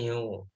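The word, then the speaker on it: μ: Itu bacanya mu.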